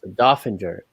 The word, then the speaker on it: Doeffinger: i was playing uh but he corrected me dauphinger uh james officer how are you today james